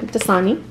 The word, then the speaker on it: Dasani: Dasani. Dasani water.